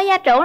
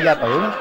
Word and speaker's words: gia trưởng: Bạn ơi, bạn có gia trưởng lắm không? Mình không gia trưởng không? Gia trưởng chứ không phải gia tưởng.